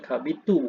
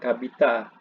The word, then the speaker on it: kabitu: Jadi menegaskan bahwasanya dibaca kabitu bukan kabita.